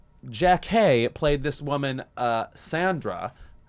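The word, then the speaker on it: Jackée: He said Jackie as opposed to Jack K and now she goes by Jack Harry.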